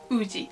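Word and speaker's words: Woozi: this is g so woozy isn't really called whoosie he's called oozy the final name i'm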